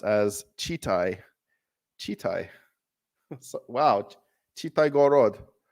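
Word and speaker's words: Читай: The word is pronounced as Chitai. Chitai. Wow. Chitai Gorod. Kitai.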